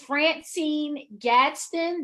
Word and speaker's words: FranCine Gadsden: And I want to bring to you a fabulous business owner from the West Coast, Miss FranCine Gadsden.